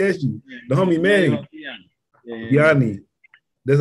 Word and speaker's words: DeAnda: DeAnda.